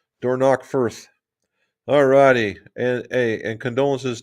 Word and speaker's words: Dornoch: Dornoch Firth.